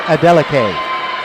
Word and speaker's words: Adeleke: By the way, during that commercial break, Yosola's dad came by and told me how to say the last name. It's Adeleke.